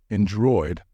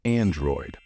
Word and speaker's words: Android: If you think the right way to pronounce it is Android, you are wrong.